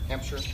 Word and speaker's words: Hampshire: We're here today at our first home of our Green Home Summer Tour Series here in, is it pronounced Hampshire? Hampshire. Yeah. Hampshire, Illinois.